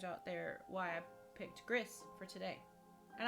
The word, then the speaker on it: Gris: there why I picked Gris for today and that's how I call it is gris I know it it could be pronounced like gree and other things but I call it Gris which is absolutely beautiful